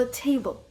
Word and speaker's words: table: Або, наприклад, слово table. Table. Перший склад наголос те. А далі йде натуральна шваб. Бл б не table table.